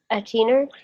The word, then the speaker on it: Athener: Die Athener. Yeah, Athener. the Athener. Notice the TH is pronounced like a T.